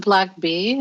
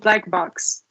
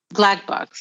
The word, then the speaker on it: BLCK: Do you pronounce it Black Bee, or it's? No, it's called Black Box. Black Box, okay, because the logo is just BLCK.